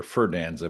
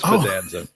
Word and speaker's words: Fidanza: I've been saying your name wrong since I've known you, Dr. Ferdanza, but I know it's Fredanza.